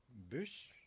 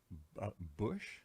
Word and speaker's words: bûche: Bûche de Noël. Bush? Bûche, bûche, bûche. How would you spell it?